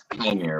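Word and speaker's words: Qimir: from Soul, OSHA's head's been, filled up by Chimere, right?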